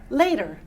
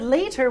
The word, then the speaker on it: later: And the flap sound is where we change the T. It's a very American thing that we do. It's not British at all. Instead of saying later, you say the word. How do you say that L-A-T-E-R word? Later. Later. Yeah. It's that instead of later, we say later. And it's a quick D. It's called a flap sound.